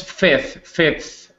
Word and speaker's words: Fez: It was Fez. It's a town in Morocco. Okay. Fez? I'm not really sure how to spell it, but that's okay.